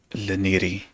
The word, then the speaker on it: Leniri: The way I like to explain it is that my name would be easy to pronounce if you think of it like pronouncing it in a Japanese accent. Essentially saying Leniri, but with like the Japanese accent, and that way it'd